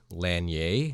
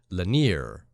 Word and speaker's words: Lanier: your episodes on lake lani a as I say it I'm from Georgia and it's pronounced linear but my pronunciation made